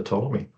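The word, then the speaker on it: Ptolemy: Um, and I didn't know this at the time, but Tommy lived in 150 AD. It was spelled with a P that silent P. I dropped the P for branding uh reasons.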